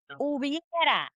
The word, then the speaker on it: hubiera: Hubiera. Hubiera. The H is silent. Okay. We don't really, the H doesn't even speak anymore. It's like silent.